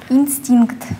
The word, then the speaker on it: инстинкт: Инстинкт. Ударение на букву И.